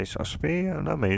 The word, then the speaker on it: Sasaki: That's apparently how you pronunciate her name, and yes, I'm not really that good with pronunciation, so I wasn't sure. It sounds like more so Shino Sasaki. Not sounds like, but that's that's to me how I pronounce it.